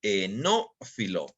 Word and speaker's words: enófilo: Tenemos este nuevo término que es el enófilo, ¿ok? Con acento en la O, enófilo, ¿no?